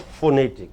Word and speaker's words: phonetic: This pronunciation is written in what is this? Phonetic, not phonetic, not pho.